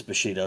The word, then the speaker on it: Bushido: Well, it is Bushido, so I'm saying it right. There's an I in there. It's not a U there. It's an I.